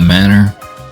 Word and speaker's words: manor: You know, a big house, a manor pronounced just like the things we were apparently raised without.